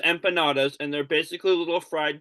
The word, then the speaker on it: empanadas: The first time I saw them, my mom had to tell me they're not empanadas because I thought it was pronounced similar to how Canada's pronounced. But they're pronounced empanadas, and they're basically little fried pillows with meat inside, and they taste very good.